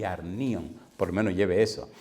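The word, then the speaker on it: ἀρνίον: Segunda palabra, arnion.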